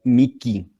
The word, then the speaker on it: mihi: En el latín eclesiástico o el latín italiano, que es el que pronunciamos nosotros, se dice fiat mihi. La H se pronuncia como una K.